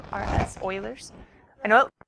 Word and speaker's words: Euler: it we did not cover Euler's method actually pronounced oh I L e RS Euler's I know like Euler's yeah no we didn't